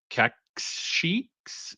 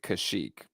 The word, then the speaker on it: Kashyyyk: I've always pronounced it Kashyyyk, but I could be wrong.